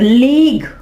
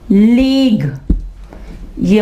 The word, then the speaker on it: league: LEAGUE। यू जो है वो UE लिखा जा रहा है लेकिन इनको पढ़ेंगे नहीं। लेग्यू, गुई, लेगुई नहीं, यूई यहाँ पे साइलेंट है, ठीक है।